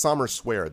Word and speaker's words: Sommerswerd: But it's Sommerswerd that I'm thinking about. That's how it's pronounced. That's how it's spelled too.